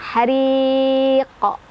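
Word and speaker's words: حريق: Dan hariq di qafnya ada qalqalah kubro karena ada huruf qalqalah yang sukunnya bukan sukun asli, melainkan sukun karena berhenti membaca. Jadi bacanya dipanjangkan, dipantulkan ya. Pantulannya lebih terdengar besar ya, berkumandang. Hariqo. Dan karena qafnya ini adalah huruf tebal, jangan lupa ngangkat pangkal lidah kita.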